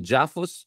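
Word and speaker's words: JAPHUS: Japan Philippine United States I call it jaffus so that it rhymes with Aus there's also a lot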